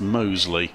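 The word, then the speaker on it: Mousley: come to the conclusion although it's spelt mouseling it seems to be pronounced mosley okay mike taylor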